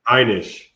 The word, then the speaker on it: Heinisch: Heinisch.